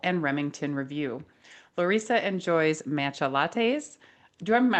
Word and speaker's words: matcha: Lissa enjoys matcha lattes. Do I'm pronouncing matcha right or is it matcha?